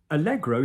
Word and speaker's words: allegro: Allegro is Italian, guys. So when you have things like, petit allegro, you've got an Italian-French mix.